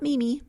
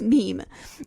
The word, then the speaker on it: meme: the French word mem it should be pronounced to rhyme with cream so it's not Meany its meme and then he goes